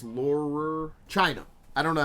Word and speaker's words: Laurer: joni laurer laurer lol it's not lawler it's laurer chyna i don't know